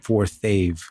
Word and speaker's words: Forthave: I know it's forth of how do we pronounce it forthave forthave okay so we have uh Daniel and